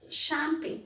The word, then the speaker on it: champagne: to understand the pronunciation of this word it's champagne ch is not pronounced as sure it is pronounced as sure